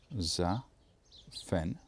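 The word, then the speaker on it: Zaphenath: It's a little bit garbled, but it looks like this. Za-fen-ath. That's the first part.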